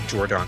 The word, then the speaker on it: Jordon: I say Jordan because it's spelled Jordon.